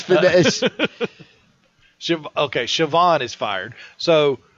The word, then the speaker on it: Siobhan: yeah but she she also got uh uh shoban fired sioban sioban is it Coban who what sioban it's phonetically it's fin sh okay Siobhan is fired so w is now out of